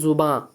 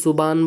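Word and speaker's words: زباں: জুবাঁ। অনেকে জুবান বলে, অসুবিধে নেই, তবে অধিকতর প্রচলিত হচ্ছে জুবাঁ।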